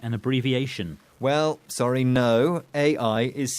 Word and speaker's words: AI: AI is C, so to speak. It's an initialism. It's the first letters of the words artificial intelligence, but it's not pronounced like a new word, just the initial letters.